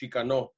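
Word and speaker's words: Xicano: been taught to me the x does have that more of the h the you know the ch shikano uh pronunciation i've also seen it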